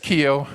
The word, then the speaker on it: Keough: movie yeah it's just Kio just Kio those Irish extra syllables don't worry about them